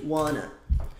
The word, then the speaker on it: want to: pronunciado como wana e want to também é pronunciado como wana você vai falar isso